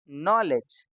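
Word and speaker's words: knowledge: Silent हो जाता है और आज इसमें के भी साइलेंट है और डब्ल्यू भी तो ये क्या बन जाएगा नॉलेज और आखिरी का इ भी साइलेंट होता है।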